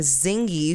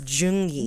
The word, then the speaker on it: Zheng Yi: in the year 1801 a man named zingy who was a i'm sorry that's not how you say it z is june i almost i forgot it's jungi you were very brave